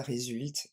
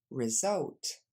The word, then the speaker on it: result: dernier pour le résultat on a dit pas résul mais encore une fois result dernière fois result ok